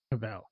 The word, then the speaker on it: Cavill: I actually watched the Google thing to see how he pronounced his name. So how you say it? Cavill.